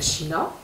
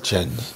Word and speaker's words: Tshiani: Dans le cadre de l'état, on a comprendre la loi il y a China. Il y a China. Chani. Quoi? Chani. Noël Chani.